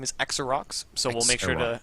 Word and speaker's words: Xerox: Let him know that it was a mistake, and it was a 0 with the when we pronounced it 0.